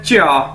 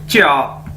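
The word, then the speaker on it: 家: उसके बाद ये देखिए हमारे पास नेक्स्ट वर्ड है चा, JIA, चा, यानी जिस तरह हमने पढ़ा था नो को च्यो, तो इसी तरह ये है चा, चा, चा, इसका मतलब है होम यानी घर।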